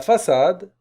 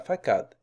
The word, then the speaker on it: façade: La façade, hein, sans crochet, il va se prononcer la facade.